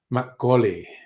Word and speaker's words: Makgeolli: Makgoli is the pronunciation.